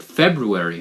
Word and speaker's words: February: u a r y but it's got that you know r in the middle so you got to you got to pronounce it February right February February February